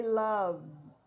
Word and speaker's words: loves: Love, the last sounds v. This E is silent. Okay, so we don't say, we say loves.